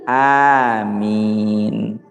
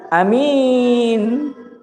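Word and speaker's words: آمين: Jadi yang betul itu aamiin, bukan amiin. Apa amiin artinya? A-nya pendek. Ya, orang yang dapat dipercaya. Itu julukan Nabi Muhammad sallallahu alaihi wasallam al-amiin. Ya, dan bukan aamiin. Ah, ini. Jadi bacanya itu aamiin, A-nya panjang.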